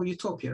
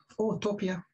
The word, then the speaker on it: utopia: place so otopia meaning if you pronounce it as otopia it means no place meaning it's a perfect